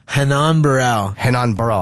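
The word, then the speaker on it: Renan Barão: Henan Barrao! I was way off Portuguese R as an H Oh yeah Yeah its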